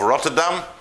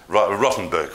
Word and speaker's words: Rottenburg: the German town/city of Rotterdam. Not Rotterdam, Rottenburg. Rotterdam's in Holland.